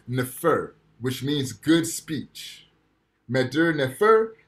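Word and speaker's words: mdw nfr: which means good speech madur nefer is spelled m mdw nefer nfr right good speech now this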